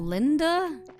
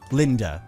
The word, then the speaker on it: Linde: No, that doesn't sound pronounced Linda. I would think so because I've always said Lind with the silent e.